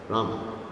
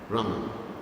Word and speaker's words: Rama: Rama. Rama. It's very soft, Rama. Hare Krishna, Krishna Krishna, Hare Hare, Hare Rama, Hare Rama. Hindi. Soft at the back.